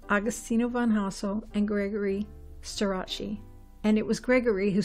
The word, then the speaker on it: Starace: So it's Starace, like Versace.